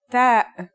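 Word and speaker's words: تاء: The pronunciation is like the English T, except you should release your breath with a strong burst of air. Try it. Ta.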